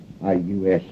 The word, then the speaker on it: Aloysius: Yeah, spell that middle name right. It's Aloysius. Aloysius. Sure. How could I miss it? Aloysius.